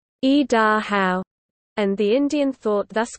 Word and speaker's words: Idaho: The first is, e, which in English conveys the idea of coming down. The second is da, which is the Shoshone stem or root for both sun and mountain. The third syllable, how, denotes the exclamation and stands for the same thing in Shoshone that the exclamation mark does in the English language. The Shoshone word is e-da-how, and the Indian thought